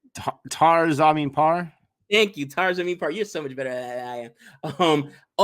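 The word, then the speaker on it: Taare Zameen Par: Idiots, just like I did with, help me pronounce it, Tar Zamin Par. Thank you, Tar Zamin Par.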